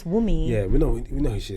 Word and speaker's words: Wunmi: Wumi. Is it Wunmi? Let me see it. It's spelled Wunmi, but I guess it's Wumi.